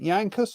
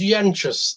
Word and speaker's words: Yanchus: is it is it yankus or yanchus it is yanchus the name is lithuanian origin uh i think the